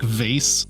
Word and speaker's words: vase: not read this as ceramic vase or vas as the Brits say.